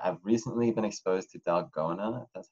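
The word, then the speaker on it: dalgona: I guess favorite I've recently been exposed to delgona that's how you pronounce it so I've made that a couple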